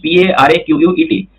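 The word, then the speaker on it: Parquet: Its spelling is Paraquet, pronunciation is paraquet file.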